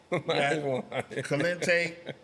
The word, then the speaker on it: Kente: Kente Kente House Kings. You said it right. Look at him. He can read.